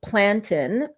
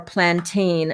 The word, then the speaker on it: plantain: of, these are overripe plantain, or plantain as many in North America pronounce it. In West Indies, we call it plantain.